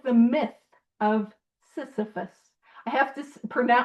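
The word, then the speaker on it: Sisyphus: like the myth of Cephus. I have to pron I have to be careful pronouncing that uh because people think I'm saying syphilis uh and I'm not I'm saying Cphus and it is a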